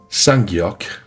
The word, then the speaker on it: ㄲ: K le son aspiré un cas fort avec un souffle d'air prononcé. Posez la main devant la bouche, vous devez sentir un souffle chaud. Sangok, le son tendu, un cas sans aucun souffle